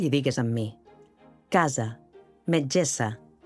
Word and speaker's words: metgessa: Si ho heu fet bé, haureu notat que quan pronuncieu la essa de <i>casa</i> el coll vibra, cosa que no passa a <i>metgessa</i>.